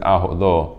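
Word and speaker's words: אהלה: So Rashi is telling us why is it said Aholo, but it's spelled Ahola, her, because first he pitched his wife's tent and he set it up.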